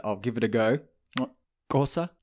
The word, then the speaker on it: Xhosa: Xhosa? Xhosa.